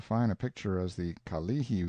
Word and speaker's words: Kalihi: a picture as the Kalihi Valley pronounced stress on the second syllable all citizens talk about